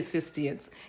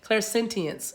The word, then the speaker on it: clairsentience: Clairsentience, I'm sorry. I always say sistience. Clairsentience is how you say it.